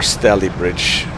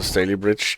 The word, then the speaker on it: Stalybridge: And we're not stopping before Stalybridge. In case this is not pronounced in a similar arcane way.